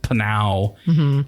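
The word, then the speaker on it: Pnau: uh australian dance musicians uh penal it's p-p-n-a-u pronounced panau and uh it features elton john and dua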